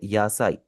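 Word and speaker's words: 野菜: यासा कोई वर्ड नहीं होता जापनीज़ में। तो ये आपने लिखना है इसे यासाई।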